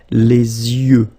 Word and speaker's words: yeux: Les yeux. Okay, final X not pronounced. Les yeux.